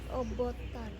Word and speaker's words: অভ্যুত্থান: এই যে এইবার উচ্চারণটা কে শুদ্ধ করে বলতে পারবা? অভ্যুত্থান।